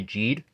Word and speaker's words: Geed: I don't know because I swear in the show they pronounce it as geed but then I know with like the English dub they kind of say Jade so I don't know